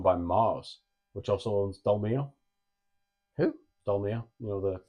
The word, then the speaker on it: Dolmio: we are owned by Mars, which also owns Dolmio. Who? Dolmio, you know, the sauce. No. The barbecue. The not barbecue. I can honestly say, this might be Pasta sauce, Dolmio. Domino? Dolmio. Dolmio?